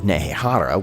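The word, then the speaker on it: Nehekhara: in their home of nehara when he was still alive and that's nehehara with a silent k you'll continue to not hear cetra sacrificed his own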